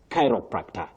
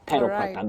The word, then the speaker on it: chiropractor: in black got it only that he missed the stress on the second uh syllable. You used that stress on the second syllable but please that is wrong. The stress is right at the beginning if you like. You say at the onset chiropractor.